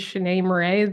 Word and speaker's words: Shanee Moret: If you don't know who I am, my name is Shanee Moret. That's how you pronounce my name. A lot of people ask.